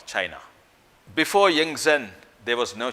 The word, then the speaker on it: Qin: In 200 BC, there was no country called China. China then was divided into small kingdoms, fiefdoms, and it was not united. They were warring states in China. In a small feudal state called Qin, pronounced Chin, the feudal lord or